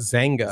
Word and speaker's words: Xanga: Dude, we had, okay, do you guys remember Xanga? Is that how you pronounce it? Zanga. Zanga. Yeah, I'm stupid.